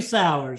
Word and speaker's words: Sauers: You got it, Sauers. All right, I'm glad. Sauers with Fat Kid Phillies out of Sioux Falls, South Dakota.